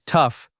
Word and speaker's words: tough: It sounds like tough rhyming with stuff.